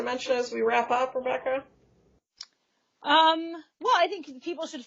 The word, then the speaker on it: QREBEKAH: That's Rebecca with a silent Q.